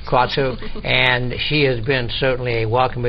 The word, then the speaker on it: Kratzer: I pronounce it Kratzer? Kratzer.